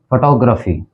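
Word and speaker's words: photography: गलत उच्चारण है इसका जो एक्चुअल प्रोनंसिएशन है वह है फोटोग्राफी फोटोग्राफी फोटोग्राफी यह फोर सिलेबल वर्ड है मैंने इसकी हिंदी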